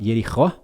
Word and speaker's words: Jericó: Uma é a Jericó, né? Em hebraico fala Jerichó, seria a pronúncia, né?